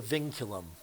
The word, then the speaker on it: vinculum: the name of this thing it's called the vinculum pronounce Ving as in Ving and then culum vinculum